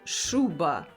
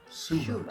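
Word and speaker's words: шуба: it's called shuba. Suba. Shuba, yes, and shuba is actually a fur coat.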